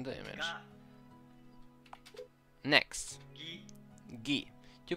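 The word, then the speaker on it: ギ: You pronounce this as ga, like the word garden. Write ga, ka as normal, then add Dakuten marks in the position shown in the image. Ga. Next, gi. Gi.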